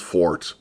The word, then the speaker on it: 4tH: And the result was called Ford. Number 4, lowercase t, uppercase h, not Ford. Although you pronounce it the same way, but it's not the same thing.